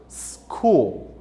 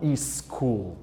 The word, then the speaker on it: school: Normalmente, palavras que começam com a letra S, como é o caso aqui de state, as pessoas costumam errar a sua pronúncia. Posso pegar uma palavra mais comum para vocês poderem entender? Como que se fala escola em inglês? Escola em inglês seria school e não school.